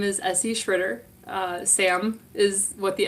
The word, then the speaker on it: Tschritter: Tschritter.